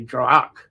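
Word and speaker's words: draíocht: is Strike uh d-r-a-i-o-c-h-t some say drug I think Drake has the most common pronunciation anyway and that's a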